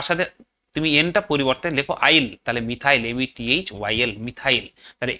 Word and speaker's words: yl: আর এদের নামটা কিভাবে হবে, দেখো সাফিক্স আছে YL, মানে আইল, বাংলাতে এইভাবে উচ্চারণ করতে পারো আইল।